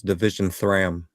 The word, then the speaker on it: Division 3am: You mispronounced it. It's Division Thram.